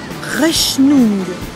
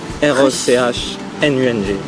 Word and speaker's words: Rechnung: Rechnung. Ouais. R-E-C-H-N-U-N-G. Rechnung. Ouais. Die Rechnung, bitte. Die Rechnung, bitte.